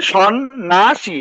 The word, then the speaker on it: সন্ন্যাসী: মধ্য জফলাটা কি হবে, মধ্য জফলাটা কোনো উচ্চারণ হবে না, আর মধ্য জফলাটা যে বর্ণের সাথে থাকবে সেটা দ্বিত্ব হবে, ডাবল হবে। তো এই যে সন্ন্যাসী বানানে সন্ন্যাসী এই দন্তের ন দুইবারই উচ্চারণ হয়েছে।